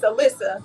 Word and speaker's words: Alyssa: And please tell me if I'm pronouncing your name correctly because I know people can call me Alisa. Alyssa. It's Alyssa, but you know, some pop.